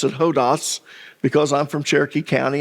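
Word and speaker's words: ὁδός: Now, I'm going to pronounce it hodos because I'm from Cherokee County and I can. But the correct pronunciation is hodos.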